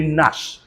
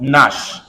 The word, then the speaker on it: gnash: car from nuts gnat you don't gnash your teeth say Nash g-n-a-s-h is called what Nash g-n-a-r-l say now say